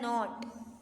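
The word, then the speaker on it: knot: attack पढ़ेंगे अब है नॉट के साइलेंट हो जाएगा और एन के बाद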